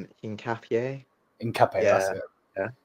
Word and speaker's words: Hincapié: Hincapié.